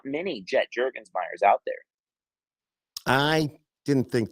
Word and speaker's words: Jurgensmeyer: Jet Jurgensmeyer, it's written right here on the screen. Jet with 1 T, like a plane, and I then did spell it right. Jurgensmeyer. Yep. Okay. Jurgensmeyer.